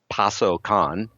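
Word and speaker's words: パソコン: Sometimes you'll hear pasokan, if I say it quickly. And basically, this is an abbreviation of the word personal computer. So personal, paso, and then kan for computer.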